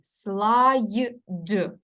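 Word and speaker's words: slide: ми з вами і запам'ятовуємо що пишеться як слід а читається через I слайд і ми з вами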